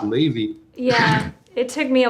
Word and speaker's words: Levi: blame anybody for it it's spelled l-e-v-i it's sound you know it uh it's just pronounced levy yeah it took me